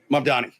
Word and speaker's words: Mamdani: Resurfaced video shows Zorhan Mandani. Am I saying it right? Mdani.